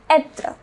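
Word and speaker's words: être: It is pronounced etre.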